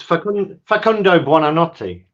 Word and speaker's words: Facundo Buonanotte: It's Facundo Buonanotte. Hey, do you want to have a go, Kate? That's your quiz question as well. Well, yeah, I don't know if it's Facundo Buonanotte or Buonanotte.